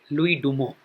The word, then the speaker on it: Louis Dumont: हम अभी करेंगे लुई डुमो। वो स्पेलिंग उसका लुइस डुमोंट है, लेकिन बोला जाता है, प्रोनाउंसिएशन, उच्चारण, लुई डुमो।